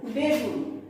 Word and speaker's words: বেগুন: তারপর আছে দেখো বেগুন। ঠিক আছে, বেগুন অর্থাৎ শুরুতে এ আছে, তারপর আছে রস্যকার, সে কারণে এর উচ্চারণেও এই ধ্বনি অবিকৃত রূপেই উচ্চারিত হবে।